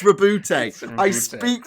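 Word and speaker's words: Roboute: no accent of the e the e it's reboot I pronounce it Robert audiobooks I've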